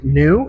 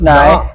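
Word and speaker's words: Neu: I'm here with New now. Right, it's pronounced Nye. Nye. Nye. The English way to pronounce it's New. The German way to pronounce it's Nye, and I guess we go by the German way.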